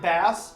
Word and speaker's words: Bass: Name is the debut album by Shinedown bassist Eric Bass. Other members of Shinedown include Zach guitar, Barry drum set, and Brent vocals. I'm sorry. Eric Bass, like the fish, is the correct pronunciation.